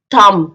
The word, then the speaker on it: thumb: Like this we'll pronounce bomb, thumb, dumb, lamb, num, crumb, limb, tom, plum, scum, climb.